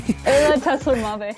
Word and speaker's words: Ayla Tesler-Mabe: Is that how you pronounce your name? Ayla Tesler-Mabe.